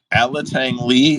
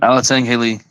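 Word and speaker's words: Alatang Heili: Alatang Lee, is that how it's said? Alatang Haley. It is, you do say the H.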